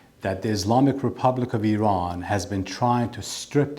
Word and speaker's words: Iran: So I want to get the pronunciation correctly. So it's going to be Iran.